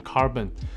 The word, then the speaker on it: CRBN: 那 CRBN 的念法 According to Audeze, the pronunciation of CRBN is "Carbon".